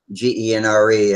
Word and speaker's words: Genre: We were trying to figure out how to pronounce his last name, G-E-N-R-E, and he says genre, or he says pronounce it like G-A-N-N-E, very French.